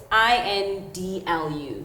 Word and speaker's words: indlu: It's INDLU.